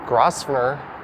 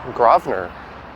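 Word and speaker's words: Grosvenor: that i can recall it looks like grossner or grassmanner or grossmanner i think it's actually grovner as in gra wv and er i think and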